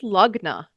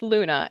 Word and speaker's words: Lughna: everyone was like what's lugna what's we're like okay clearly not the right name what else could we do so we were like well it's pronounced Luna and we're big moon lovers and we just adore